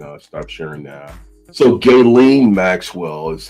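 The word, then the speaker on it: Ghislaine: So Gaelen Maxwell is how you pronounce her name.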